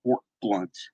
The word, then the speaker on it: Fort Blount: They built Fort Blunt, and I'm going to put in the chat